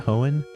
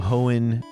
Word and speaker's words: Hoenn: Hoenn? Mm-hmm. The Hoenn Pokedex, you talk to somebody and he gives you access to all 3 birds through like some like dialogue.